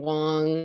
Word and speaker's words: Wang: Wang. It's spelled W-A-N-G.